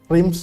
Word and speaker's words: Reims: Ini bacanya lain lagi nih jangan. Reims tuh Iya.